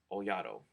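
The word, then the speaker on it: Olhado: a lot like uh oato that's how you pronounce his name one of the kids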